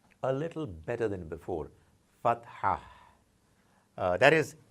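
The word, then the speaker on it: فتحة: show the equivalent of A, which is called fatha. Fatha. I hope now those who have been practicing their alphabets would be able to pronounce this word a little better than before. Fatha.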